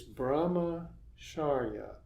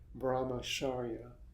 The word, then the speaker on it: brahmacharya: The word is brahmacharya. Here I've separated it, brahmacharya, to make it easier for you to pronounce.